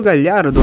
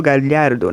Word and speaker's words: Gallardo: Vamos começar falando, por exemplo, sobre, né, o Marcelo Gallardo, né, que é o treinador do River Plate.